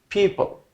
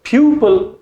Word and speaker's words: people: Number 15, people, people, people. Pupil is not correct pronunciation.